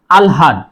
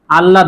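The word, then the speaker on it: আহ্লাদ: যেমন আয়লাদ আল্লাদ আলহাদ শুদ্ধ উচ্চারণ হবে আলহাদ আল্লাদ নয় সুপ্রিয় বন্ধুরা যারা আমার এই ক্লাসটি দেখছেন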